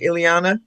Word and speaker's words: Ileana: I'm pronouncing your name right, Ileana? That is correct.